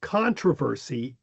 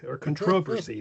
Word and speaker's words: controversy: However, a lot of British say the traditional British pronunciation is, as we pronounce it, controversy. And that the second stress pattern is more recent.